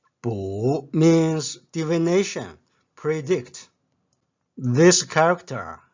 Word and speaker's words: 卜: The pronunciation of Bu is like the sound produced when a tortoise shell cracks. Bu. Bu means divination, predict.